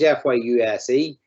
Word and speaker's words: Fyuse: to better effect using this is pronounced fuse fyuse so um that's uh